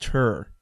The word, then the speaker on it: Tur: So, in other words, what he's saying is that an attack on Katie Tur, and it's actually pronounced Tur, like Tur.